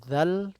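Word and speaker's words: ذال: Huruf dzal adalah huruf seperti huruf dal tapi ada titiknya di atasnya. Dha, dhi, dhu, badh. Dengan cara bagaimana? Ujung lidah dikeluarkan sedikit, kemudian disentuhkan ke ujung gigi seri bagian atas.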